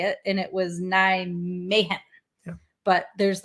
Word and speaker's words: Nijmegen: So Nijmegen. Nijmegen. Because this is a G in real life.